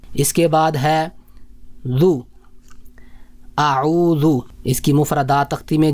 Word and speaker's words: اعوذ: ہے زا زا زا۔ تو اعوذ میں جو حرف ہے وہ ہے ذال ہے، تو یہ نرم حرف ہے، اور جو زا ہے